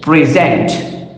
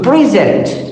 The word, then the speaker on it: present: For example, if I use this word as a noun, then the stress would be to the first syllable. But if I'm using this word as a verb, then stress or emphasis would be to the second syllable. For example, if I say present, so present and present. So when I say present, so it is a noun, but if I say present, it is a verb.